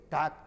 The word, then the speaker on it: talk: बाद में हमें ज्ञान हुआ नहीं, के पहले L है तो साइलेंट करके बोलना है वाक। TL के टालक बोलते थे टाक, TL के IS टाकीज बोलते थे टालकीज, अब टाकीज बोलते हैं कि लक्ष्मी टाकीज, भोला टाकीज।